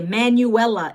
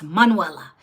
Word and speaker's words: Manuela: Ever since elementary school, they would say Manuela. And it's Manuela. Like the female version of Manuel, right?